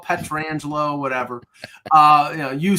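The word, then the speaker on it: Pietrangelo: None of us could pronounce his name the right way. It took a while. Yeah. Peter, it's okay. Peter Rangelo, Petrangelo, whatever.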